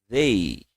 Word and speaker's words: they: Nós vamos falar assim, ó, they. Tenta colocar a língua entre os dentes e falar they.